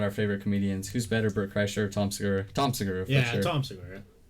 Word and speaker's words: Bert Kreischer: So there was something that Tom Segura and Brett Kreischer, I always pronounce it. It's Bert Kreischer.